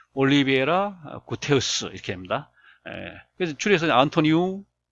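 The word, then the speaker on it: Guterres: 안토니오 마누엘 디 올리베라 구테흐스 이렇게 합니다. 그래서 줄여서 안토니오 구테흐스 이렇게 말합니다. 이 사람은 이제 포르투갈 사람이니까 영어로 읽으면 구테레스죠. 구테레스지만 이제 포르투갈 말로 읽으면 이 리을 발음이 히읗으로 나니까 구테흐스가 된 구테흐스.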